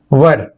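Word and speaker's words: were: वर, कुछ लोग इसको गलत उच्चारण भी करते हैं, वेयर बोलते हैं, लेकिन वास्तव में इसको वर बोला जाता है, वह, ये।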